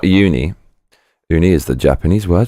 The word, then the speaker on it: uni: your face before opening it what is uni pronounce oi not un uni uni is the Japanese word for sein covered